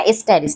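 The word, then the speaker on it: asterisk: এই টির সাথে এই স্টার চিহ্নটাকে বলে এস্টারিস, উচ্চারণটা এস্টারিস, ঠিক আছে।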